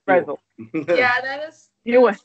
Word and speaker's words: Brezel: She's like, oh no, it's pronounced Brezel. I'm like, all right. So I said something like, oh, I'm gonna get the pretzel. She's like, you mean Brezel?